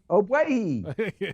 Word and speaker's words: Ogbuehi: Ogbuehi.